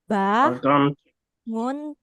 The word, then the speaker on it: bangun: siron tidor banon tid we make the sound ngeh ngeh bangun ba ngun mun y bangun moon no bono Mengon manggo. Iya. There's a sound. Eng ng we use it here.